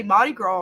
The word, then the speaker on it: Mardi Gras: Because it's spelled to me like you'd like Mardi Gras or Mardi grass, and it's Mardi Gras. Like it's French, okay? It's not English, so it's not.